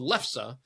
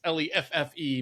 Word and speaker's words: Leffe: It's a it's called Leffe is the proper way to pronounce that. L E it's L E F F E but it's pronounced Leffe.